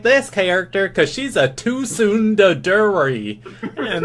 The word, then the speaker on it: Tsundere: It's called Tsundere, okay? Dale, you gonna pronounce my anime waifus right if you tell about.